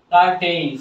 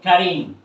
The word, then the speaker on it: curtain: সারা জীবন কোন MA pass লোককে জিজ্ঞাসা করো, ছোট ভাই বোনেরা, কার্টেইন, CURTAIN কার্টেইন, এটা উচ্চারণ কি হবে জিজ্ঞাসা করো এমএ পাস লোককে, সে বলবো কি কার্টেইন। ভুল বলবে, ভুল। এটা উচ্চারণ হবে কারিন।